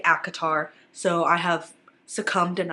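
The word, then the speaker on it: ACOTAR: even been talking about acatar for a majority of that time I used to pronounce this a cotar it really just made sense to me because it's a court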